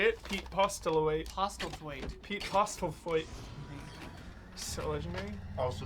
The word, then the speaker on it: Postlethwaite: Postlethwaite.